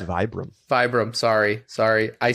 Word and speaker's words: Vibram: It's Vibram.